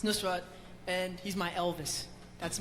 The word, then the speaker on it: Nusrat: Because I have a friend named Penny, and she, I played her the thing, and she said Nasrat. Yeah. It's Nusrat, and he's my Elvis.